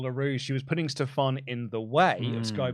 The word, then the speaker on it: Stefan: When um Tony Schiavone mispronounced his name, called him Steven Smith. And Taz goes, "Stefan Smith."